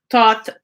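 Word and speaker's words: Thoth: led by thought so the pronunciation the writing of thought is t-h-o-t-h so it's not the thinking thought but taught the what is considered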